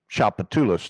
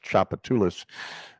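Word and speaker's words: Tchoupitoulas: I mean, Emerald's, which is I mean, the original Emeralds is like 2 blocks down Chapatulas. That's how that word is pronounced. People look at the address, Chapatulas.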